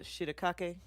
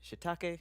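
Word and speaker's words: shiitake: The shiakake. I know that's not how you say it. Shitake.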